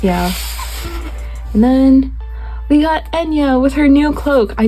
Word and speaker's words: Enya: By the way, Enya is another Irish name, so that's why it's pronounced not like it looks.